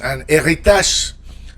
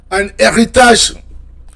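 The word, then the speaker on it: héritage: Anitage. Anitage. Yeah. Don't forget that R, the French R. Anitage. Anitage.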